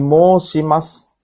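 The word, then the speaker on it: 申します: Ini kanji moshimasu. Moshimasu bacanya artinya mendaftar.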